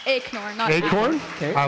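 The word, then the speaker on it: Aknor: your name it's it's ignore it's spelled a-k-n-o-r but it's ignore Acorn okay I like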